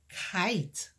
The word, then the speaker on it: kite: okay i T eed remember your long vowel sound I eat silent E kite all right what is